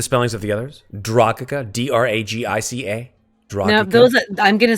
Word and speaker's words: Dragica: Dragica, D-R-A-G-I-C-A. Dragica. No, I'm going to spell those out phonetically so that I know how to say them.